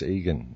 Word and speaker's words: Igan: it's uh it's Egan it's spelled Igan but it's pronounced Egan okay brilliant because we'd